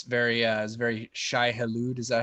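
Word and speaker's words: Shai-Hulud: done reading dude and it's very uh very shy hallowed is that how you say it yes that's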